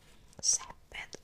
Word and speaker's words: césped: Césped, con acento en la E.